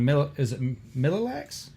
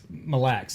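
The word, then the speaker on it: Mille Lacs: Sure, if you want to pronounce it that way. Over in Minnesota. Go for it, because I looked at the word and how he pronounces it, and I read it, it's not working. Mille-Lacs. There all one word.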